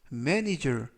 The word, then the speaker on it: manager: 이때 강세에 유의하실 점은 알파벳 A가 두 개가 나오는데요. 첫 번째 있는 알파벳 A에 강세가 있습니다. 그래서 manager 이라고 발음하시면 좋겠고요.